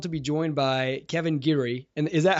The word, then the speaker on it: Geary: I am thrilled to be joined by Kevin Geary and is that how you pronounce it Kevin Geary yep that's right got it I thought so